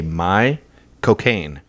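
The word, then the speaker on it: Michael Caine: is so thick that if you say my cocaine michael k that's that's his name with his accent use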